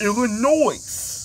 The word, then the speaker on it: Illinois: So it's Illinois. Hey, y'all ready to get the picture? But the S is silent.